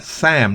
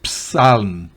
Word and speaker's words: psalm: La siguiente palabra, Sam, no es psalm, Sam o salm. Fíjese que la L tampoco se pronuncia. Es Sam, salmo.